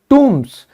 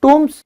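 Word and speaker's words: tombs: Study of ancient things like टूम्स, इसे दोस्तों B silent रहेगा, टूम्स, बरीड टाउन्स।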